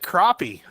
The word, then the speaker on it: crappie: A white crappie. That's how you White pronounce it.